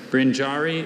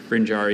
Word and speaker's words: brinjarry: Brinjari is a traveling dealer in grain and salt in India. Brinjari is a noun, and it's from Sanskrit-derived Hindi.